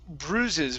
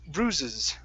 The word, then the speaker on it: bruises: bites good good um this word here is pronounced Bruises with an oo sound bru bruises bruises okay very nice